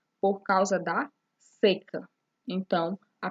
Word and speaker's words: seca: Porém, a pronúncia é diferente. Reparem, o sol seca. O sol seca por causa da seca.